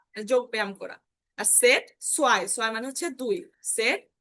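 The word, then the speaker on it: zwei: আর সেট সোয়াই, সোয়াই মানে হচ্ছে দুই।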